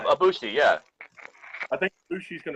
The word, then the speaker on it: Ibushi: Ibushi, yeah.